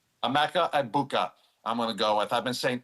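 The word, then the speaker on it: Egbuka: two weeks, but now everyone told me the G is silent.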